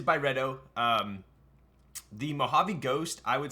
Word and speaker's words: Byredo: How do you say it? Byredo. Byredo. Thank you. Could have said that in the first word of the freaking video. Byredo. Okay, it's officially Byredo. So it is Byredo.